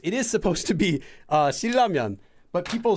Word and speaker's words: Shin Ramyeon: So to distinguish from that, people will sometimes just pronounce it as Shin because it's supposed to be Shin, and then say Ramyeon. So it's not just Shilramyeon, it's Shin Ramyeon.